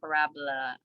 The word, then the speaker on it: parabola: And I know it's spelled like parabola, but it's actually parabola.